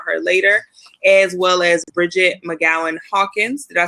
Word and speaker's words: Bridgett McGowen-Hawkins: bit more about her later, as well as Bridgett McGowen-Hawkins.